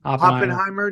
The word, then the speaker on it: Oppenheimer: all and like hopping what how do you pronounce his name hopping yeah Oppenheimer dude I'd like how dramatic he talks in